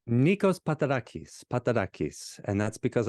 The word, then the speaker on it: Nikos: pronounce your name right how how do you pronounce it correctly Nikos pakis pakis and that's because I'm a first